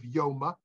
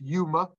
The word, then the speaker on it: Yoma: in the talmud of Yoma sometimes pronounced Yuma I will which is